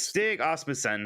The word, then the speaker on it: Stig Asmussen: Supernova says gosh, I'm going to say his name wrong. Is Stig Asmussen.